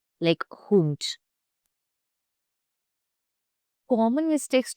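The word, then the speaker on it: Hund: The pronunciation of डी साउंड्स like T like हुंट common mistakes to avoid don't soften the D eight word endings it's a hard T not soft D.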